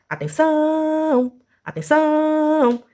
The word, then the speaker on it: atenção: Então, se a última sílaba é a tônica, nós dizemos que ela é oxítona. Então, vamos lá? Oxítona. Oxítona. E se eu fosse cantar, eu cantaria atenção, atenção.